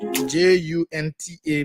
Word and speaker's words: junta: Like I told you, though, this word starts with J, J-U-N-T-A, but it's pronounced as junta, not junta, has been pronounced in Liberia.